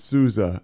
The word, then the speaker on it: Sousa: But you're supposed to pronounce it Souza, and somebody at some point in time took the Z out and threw an S in there, and here we are.